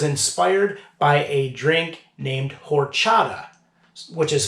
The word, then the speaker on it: horchata: beer that is inspired by a drink named horchata which is spelled h o r h now what is